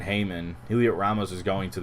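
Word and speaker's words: Heyman: Um per John Heim Hayman. I always say his name wrong. John Hayman, Heliot Ramos is going to the Yankees.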